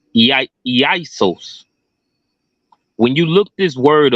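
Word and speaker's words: Ἰησοῦς: However, this is a transliteration of the Greek word Strong's G2424, Isos, pronounced Isos.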